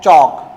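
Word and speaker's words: chalk: यहां यहां देखिए एल के बाद के आया तो एल क्या है? साइलेंट है। क्या हो जाएगा? योक टॉक वॉक चॉक।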